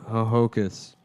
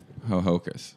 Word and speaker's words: Hohokus: uh connecticut's native american hohokus yeah ho hoku ho hokus is that oh yeah cause a lot of the akkas secaucus yeah but it's spelled h-o-h-o-k-u-s that's really dumb yeah ho hocus ho hocus yeah but yeah it's